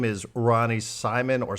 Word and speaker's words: Simon: His name is Ronny Simon or Simone. John and I think it should be Ronny Simone, but we also checked the pronunciation guide, and it seems to suggest that it's Ronny Simon.